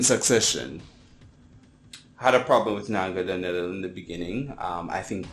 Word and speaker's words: Naganadel: Its evolution, Naganadel, Naganadel. People have several pronunciations for it. I prefer the pronunciation Naganadel.